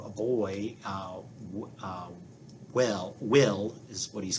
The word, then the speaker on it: Wel: times i kept saying well instead of will um but uh yeah his full name is uh weldon so there you go but he goes by he kept saying you pronounce it as will um and anyway they're